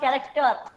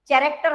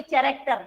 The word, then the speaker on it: character: Character. मैं आपको बोल के भी दिखा रही हूँ. Character. H. H is silent in the word character.